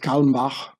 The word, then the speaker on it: Kalmbach: So here, Herbert Kalmbach, I pronounce it the German way, was an American attorney and banker.